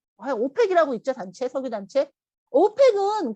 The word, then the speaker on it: OPEC: 오펙은 그런데 단어대로 읽었더니 오펙 하니까 어하고 모음으로 시작하죠.